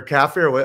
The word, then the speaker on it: kafir: That's why, I think that was our entire debate about what a kafir is, or kafir. How do you pronounce it?